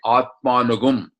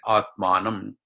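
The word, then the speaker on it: आत्मानम्: It's generally in reading you say Atmanugum. That's how you read it. Even though in pronunciation is say Atmanam.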